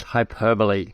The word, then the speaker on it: hyperbole: about that is I've only just found out how to pronounce it because I always thought it was hyper about having fat that hyperbole two different words cool so look what